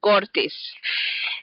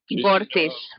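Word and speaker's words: Gortys: ancient Greek and the Roman days was Gortina Gortis and um actually we have found a wall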